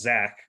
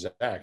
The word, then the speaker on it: Zech: first off the name it's z-e-c-k and he says it's pronounced zach which is going to